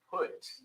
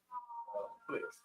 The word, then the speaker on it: Put: So Put, most people don't even know how to spell that. Put. Spell with them. My thing was spelled like foot. Foot. Exactly spelled Put. Silent H. Oh, you put the H in there, it's like a hut.